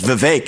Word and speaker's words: Vivek: I say, my name's Vivek. It rhymes with cake.